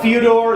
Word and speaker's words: Fyodor: So what Fyodor, is that how you pronounce that guy's name?